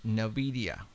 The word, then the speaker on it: NVIDIA: I don't think it was put there by this company, and it's pronounced NVIDIA.